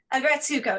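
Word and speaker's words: Aggretsuko: I have to ask, have you seen Agretzko on Netflix? Okay, so No. it's Oh wait. Agretsuko. Yes. yeah, Grisuko. Yes, I Yeah, have. yeah, yeah, yeah, yeah, yeah. Sorry, I pronounced it.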